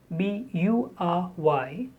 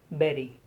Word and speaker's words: bury: The spelling is a very poor guide here. The spelling has U, B-U-R-Y, but actually it is spoken as berry. Burial place, burial ground, so berry. It's not bury, it's not bury, it's berry.